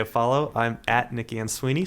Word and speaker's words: Ansuini: I'm at Nicky and Sweeney, spelled ANSUINI.